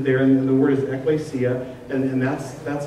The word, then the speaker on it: ekklesia: It's kind of hard to do, but sound it out phonetically. It's ekklesia. It's the word ekklesia.